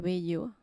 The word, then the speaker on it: Bello: As I said before, my name is Bello or Bello, as you would pronounce it in Spanish.